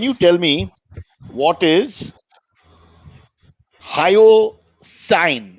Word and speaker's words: hyoscine: So can you tell me what is hyoscine? It's pronounced hyoscine.